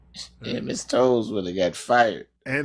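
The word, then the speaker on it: Towles: right yeah and Miss toes when they got fired ain't that funny her name was told me yeah it smelled like but it was t-o-w-l-e-s but it's pronounced toes yeah yeah no way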